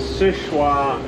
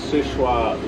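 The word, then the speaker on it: Seul Choix: side at about the 2 30 position is sichua lighthouse and that's spelled s-e-u-l second word c-h-o-i-x sichua lighthouse just uh east of mcdonald lake on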